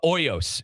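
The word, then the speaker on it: Hoyos: things over, but GMO Hoy uh uh Oyos, excuse me, you know me, us Americans, I want to pronounce the H, but uh GMOs, um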